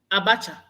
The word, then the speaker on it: Abacha: I'm pronouncing right, Abacha or Abaka? Abacha.